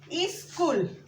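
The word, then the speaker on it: school: स्कूल के जगह स्कूल बोलते हैं। स्कूल, स्कूल। एक्चुअली इस तरह प्रोनाउंस नहीं करते, ये ई गलत है। हम बोलते हैं स्कूल, स्कूल, स आधा होता है, स्कूल।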